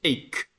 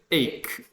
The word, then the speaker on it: ache: Ache. Ache. This is not CH. You don't pronounce it like CH, just like K.